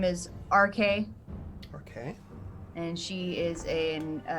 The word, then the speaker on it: Arkae: Her name is RK, Okay. and she is a gnomish artificer. Oh. RK. It's spelled ARKAE.